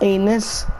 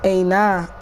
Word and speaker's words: Aina: Mikel, Traore, Amelia, Kennedy, Palmer, Abraham, Masonda, Aina, how you pronounce his name, not Anis, Aina, yeah.